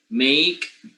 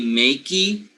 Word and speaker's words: make: take a look at this e in spelling you will realize that this e is mute okay you don't pronounce the e you don't say makey you don't say mu t right so you simply don't pronounce it when this mute